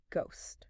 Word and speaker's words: ghost: the way, is actually how the silent H got permanently inserted into the word ghost.